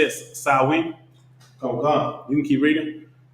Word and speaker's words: Samhain: The people that ran around naked fighting people and they celebrated, how you say it, Samhain?